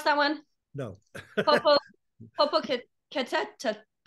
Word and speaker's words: Popocatépetl: Do you know how to pronounce that one? No. Popocatépetl.